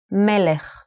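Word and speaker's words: מלך: So how would you read this word? This is melech. Melech means a king in Hebrew. Melech.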